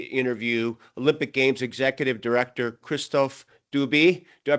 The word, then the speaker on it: Christophe Dubi: Today, my my guest, it's a pleasure to get to interview Olympic Games executive director Kristoff Dubie. Do I pronounce that correctly?